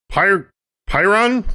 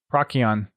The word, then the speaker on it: Procyon: Also, for Lore Thursday, Arcadia is the 4th planet in the Pyron system? Procyon. Procyon? Procrayon? Oh. That works. Sorry, it's not spelled like that, but hey.